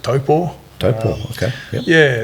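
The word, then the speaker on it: Taupō: So grew up in New Zealand, a nice place called Lake Taupo, or as the locals pronounce it, Taupo.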